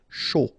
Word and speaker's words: chaud: Chaud. Final D not pronounced, and then when you combine this C and H, you get the sh sound. A and U, O. Chaud.